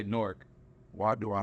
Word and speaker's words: Newark: and I'll be like, Newark. Yeah, like it's one syllable. Yeah, type shit, just one, Newark.